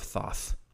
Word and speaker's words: Thoth: scroll, the Scroll of Thoth. It's Thoth, so I think it's Thoth. Yeah, that's how they say it in the movie. It's like sauce with a lisp.